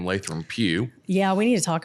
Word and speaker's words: Lathram Pou: It does get mispronounced often. So let's say it for them. Yeah. So it is Lathram Pou.